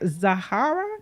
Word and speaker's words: Zahara: Now speaking of beautiful people, Angelina Jolie was right here in Atlanta doing the electric slide with her daughter Zahara.